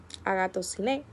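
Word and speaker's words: ἀγαθωσύνη: En griego se pronuncia Agato, Agato Siné y se refiere a la bondad, la virtud y la excelencia moral.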